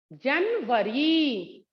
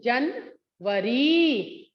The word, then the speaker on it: जनवरी: क्या होता है, जनवरी। मैम कैसे बोल रही हूँ, जनवरी। र में थोड़ा मैम क्या लगा रही हैं, थोड़ी देर से मैम बोल रही हैं।